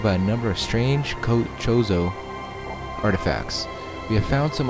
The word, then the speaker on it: Chozo: People call them Kozo, Chozo, and again, with like Nintendo pronunciations, a lot of people call them differently.